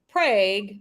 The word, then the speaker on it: Prague: Prague, Oklahoma, spelled like Prague, but pronounced Prague because this is the US of A.